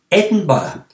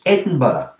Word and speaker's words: Edinburgh: with that is to say edinburgh one two three four edinburgh edinburgh has got four syllables so if you hear